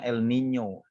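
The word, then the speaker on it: El Niño: laninya dan minyak kalau itunya Elnino pun dibacanya Elnino kayak dingo gitu di kayak jadi NY di belakangnya Lola Nina dibacanya bagi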